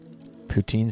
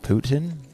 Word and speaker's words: poutine: Poutine sounds like Putin. Yeah, I mean, I guess if you're trying to say it like the French. But everyone over here calls it poutine. Ain't no one calling it Putin.